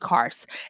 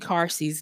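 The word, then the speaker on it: Carse: by uh James Cary I always say Cary but I think it's named cars and it's spelled c a RS e James cars and he's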